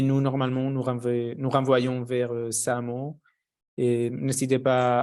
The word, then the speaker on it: SAAMO: On sait que SAMO, ancien Samenlevingsopbouw, qui s'écrit SAAMO, il offre un certain accompagnement dans des matières liées à l'énergie.